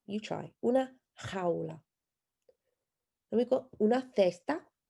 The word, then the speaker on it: jaula: So the first one is fun to pronounce because it has the J sound at the beginning. Una jaula. You try. Una jaula.